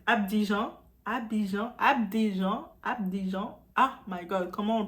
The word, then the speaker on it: Abidjan: Il est mort le 24 avril 2016 à Abidjan. Ah my god, comment on le prononce?